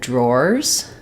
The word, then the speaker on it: drawer: what you're talking about so a drawer like a dresser drawer or drawers three drawers is going to be the or dip thong so I sometimes write